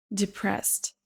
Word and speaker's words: depressed: Depressed. Depressed. Déprimé. Écoutez bien la première syllabe.